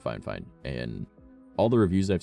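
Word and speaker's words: FIFINE: But yeah, it's the Fine, and that is how you pronounce it. Fine, but it's F-I-F-I-N-E.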